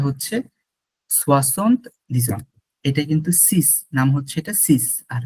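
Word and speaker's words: six: এটা কিন্তু সিস, নাম হচ্ছে এটা সিস, আর সেইজ হচ্ছে 16। সিস হচ্ছে উচ্চারণটা আর কি।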